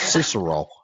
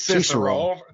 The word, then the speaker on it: Cicero: actually pronounced Cicero. It's Cicero.